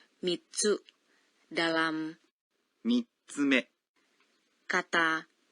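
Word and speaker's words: 三つ: Cara pengucapan sebagian angka berubah saat diikuti oleh tsu. Betul. 3 adalah, 3、 namun jika diikuti oleh tsu menjadi mitsu.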